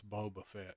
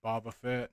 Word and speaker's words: Boba Fett: I know it's Boba I know it's Boba Fett not Baba Fett F I've been pronouncing